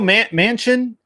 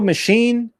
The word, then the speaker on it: Manchin: You got Joe Manchin. How do you say it? Joe Machine? It's Manchin. Manchin, I think.